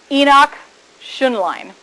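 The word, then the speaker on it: Henoch-Schönlein: sure I say this in the correct German pronunciation Enoch tion line purpura nephritis ok so remember we talked about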